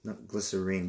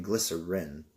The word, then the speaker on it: glycerine: gelatin glycerin no mm-hmm glycerine glycerine because the e turns the eye into a long I plus around no I'm